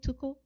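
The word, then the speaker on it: TUCO: with too cool am i saying it right toku because yeah that's right unified club soviets organization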